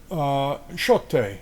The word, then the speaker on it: Pixote: Pixote is how you pronounce that.